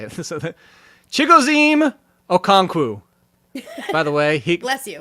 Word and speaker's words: Chigoziem Okonkwo: Just because I know how to pronounce his name, and I like to say it. So Chigoziem Okonkwo.